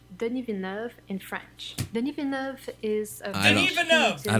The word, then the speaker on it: Denis Villeneuve: His name is 3 syllables. The whole name. Villeneuve. I believe it's Denis Villeneuve.